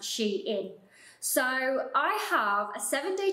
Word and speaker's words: SHEIN: I love Sheen well people will know it as Sheen but is actually pronounced she in so I have a